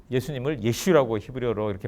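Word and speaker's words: ישו: 놨습니다 예수님의 이름을 예수라고 원래 예수님의 이름은 예슈 라고 하는 이름입니다 그러나 랍비들은 만약에 기독교가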